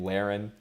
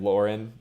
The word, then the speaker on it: Lehren: mispronounced that with like my actual name Lehren whoo I get Lauren basically a hundred percent of the time so you know it's